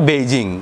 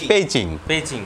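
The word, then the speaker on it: 北京: Xi Jinping, যেমন আমরা বেইজিং ব দিয়ে লিখি বেইজিং, কিন্তু এটার উচ্চারণ কিন্তু আসলে পেইচিং, যেমন ব কে চীনারা উচ্চারণ করে পি, যেমন চীনের প্রধানমন্ত্রী লিখোছিয়াং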